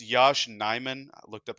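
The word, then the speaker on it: Yosh Nijman: The last signing that we made was it's Yash Nyman. I looked up how to pronounce it just before we started recording.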